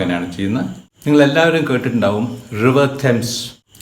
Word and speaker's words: Thames: നിങ്ങളെല്ലാവരും കേട്ടിട്ടുണ്ടാവും river തെംസ്. THAMES എന്നാണ് സ്പെല്ലിംഗ് എങ്കിലും അത് പറയുമ്പോൾ തെംസ് എന്നാണ് പറയുക. റിവർ തെംസ്, തെയിംസ് അല്ല, തെംസ്. ഈ മദ്രാസിൽ കൂവം ഉള്ള മാതിരി ഒരു പുഴയാണ് റിവർ തെംസ്.